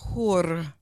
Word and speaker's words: hur: really in ancient Egypt, the word hur, can you roll your R's? Hur. It means pleasure.